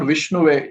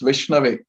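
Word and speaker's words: विष्णवे: So it's not Vishnuve, it's Vishnave.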